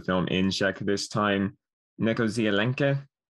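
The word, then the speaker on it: Něco z Alenky: in check this time nekozialenke with a bit of an sound at the end instead of an e okay it translates out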